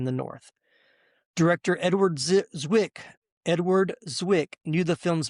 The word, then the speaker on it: Zwick: And last little tidbit here for pre-production, Edward Zik, I keep saying it wrong. Edward Zwick initially hesitated about how